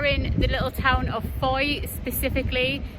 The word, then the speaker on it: Fowey: We are in the little town of Fowey, specifically. It's spelled f o w e y, but it's pronounced Fowey.